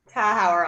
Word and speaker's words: Tauscher: Please pronounce your last name for us. Tauscher, Tauscher.